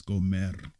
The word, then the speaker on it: Gomer: The sons of Japhet, Gomer, right? Magog, Madai, Yavan, Tubal, Meshach, and Tyrus, right? The sons of Gomer, or Gomer, spell the roll the R actually, it's Gomer, right?